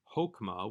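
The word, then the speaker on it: חכמה: though it comes from the word wisdom hokma with a short o comet's hattuf this is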